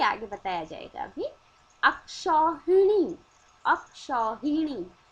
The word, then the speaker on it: अक्षौहिणी: अक्षौहिणी, अक्षौहिणी ये सही शब्द है, और अक्षौहिणी ये सही उच्चारण है।